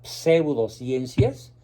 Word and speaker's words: pseudociencias: ciencias falsas eso significa pseudociencias bien pronunciado porque es una p seguida de una s pseudo pseudociencias que prometen la felicidad